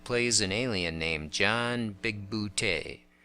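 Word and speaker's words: Bigbooté: an alien named John big bootay a comic gag that plays over and over is that everyone calls him big booty and he's always trying to correct their pronunciation there's a casting carry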